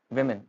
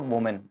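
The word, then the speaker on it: women: Wednesday next is वमेन वुमेन इट्स नॉट वुमेन इट्स वुमेन next है busy it's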